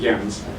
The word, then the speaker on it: Jens: That's a Danish name. In Denmark, they pronounce it Jens. I can only assume that is the correct way to pronounce it, which means my parents named me incorrectly.